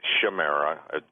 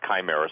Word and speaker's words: chimera: but the word chimera, some people pronounce it chimera, pronounce chimera, chimera.